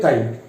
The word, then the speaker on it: chi: ध्यान रखना, mole fraction का सिंबल बेटा काई होता है, इट्स नॉट x, नॉट इसका spelling CHI, बट इट्स not pronunciation ची भी नहीं है, इट्स को प्रोनाउंसिएशन करते हैं काई।